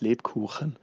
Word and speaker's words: Lebkuchen: It is pronounced Lebkuchen.